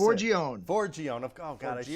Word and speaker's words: Forgione: So, last name, I'm not good on the pronunciation. Forgione? How do I say it? Forgione.